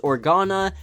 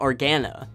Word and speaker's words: Organa: Organa spelled orj a the last name should always be pronounced Organa and not Organa in the first episode of